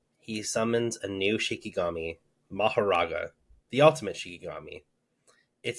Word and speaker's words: Mahoraga: heard them because we've I've always heard it pronounced mahara and I don't think that that's incorrect because it is like a Buddhist term but the way that they pronounced it in Japanese was something more like Maha that's cool I think